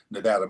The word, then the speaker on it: Nevada: when I moved to Nevada by the way I come from a state where pronunciation matters it's Nevada not Nevada talk Nevada you might